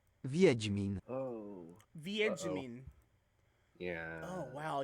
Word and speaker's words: Wiedźmin: Okay, that is not how I thought that would be pronounced. Wiedźmin.